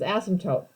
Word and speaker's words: asymptote: talk about this is the way you pronounce this is asymptote okay and the asymptote